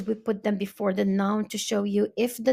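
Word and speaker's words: nos: If it's more than one brother, if it's more than one auntie, we will be using non. So the S is silent. It's going to be no.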